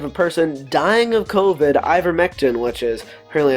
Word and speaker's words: ivermectin: As a Hail Mary pass, I have procured him some ivermectin for him and will be driving it to him today.